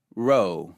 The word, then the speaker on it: Rho: call it P Rho Rho makes an R sound as in the word room or an RH sound in rhombus however you pronounce eros